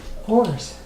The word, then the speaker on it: Aures: Last name is Aures, and it's pronounced like oars on a boat. Oars.